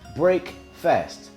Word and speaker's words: breakfast: is referred to as break fast. We pronounce it as breakfast, but it's break fast because we're breaking the fast.